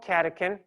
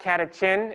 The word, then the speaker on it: catechin: there this is called catechin this is another example of a ch in the name where it just sounds like a k or a c so it's not katachin it's catechin but anyway uh that's